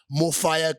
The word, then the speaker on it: MOFAYA: And the name MOFAYA, and why not F-I-R-E? Because the F-A-Y-A can be pronounced in any language. Sure. Whether you're in the Caribbean, whether you're in Jamaica, whether you're in Spain, whether you're speaking it in English, you're speaking it in Sitsonga, you're speaking it in Sepedi, Sizulu, Xhosa, MOFAYA gets pronounced the same way.